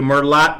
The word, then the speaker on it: Merlot: I don't care how you pronounce it. Yeah. But yes, it's gnocchi. Dora Sanchez Soto, good morning to you. Merlot wine.